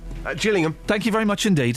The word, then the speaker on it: Gillingham: Is it a soft G or a hard G? Just Jillingham.